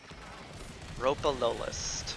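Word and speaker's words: Ropalolyst: letting me shoot you more of that please ropa low list all right that's how you pronounce it anyway we're back to uh the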